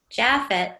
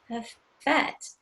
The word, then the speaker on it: Jafet: Well, all the kids saw that, and they're like, Japheth, Japheth. I'm like, no, guys, it's Jafet. I said, let me tell you why it's Jafet, because when you speak Spanish, the J is silent.